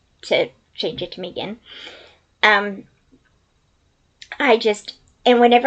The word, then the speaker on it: Megan: hear Megan in my face and yes, it's pronounced Megan just so you know. Um, most people say Megan, but she does correct anybody that says Megan to change it to Megan.